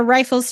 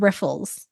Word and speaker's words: rifle: I heard one where they said riffles through something. No. Okay. Okay. You do not riffle anything. I need to make sure that this is me, not me being crazy. And it's actually like riffles through something. No, you rifle through.